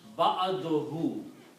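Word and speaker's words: بعده: And when you combine these two, you will pronounce ba'aduhu, after him.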